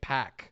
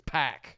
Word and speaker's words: PAC: instead of Pok but which I found out they were pronouncing it pack we've been saying POC this whole time it's pack I guess anyway well you know